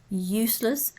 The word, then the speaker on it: useless: a positive suffix and note the sound varies use the S is like a zed useless and useful it's a very much an S sound unknown unheard of it